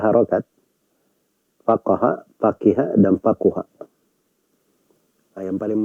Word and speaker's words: faqih: Itu dibaca faqih ya, di babat di kebanyakan para ulama ahli hadits dibacanya itu dengan kata faqih.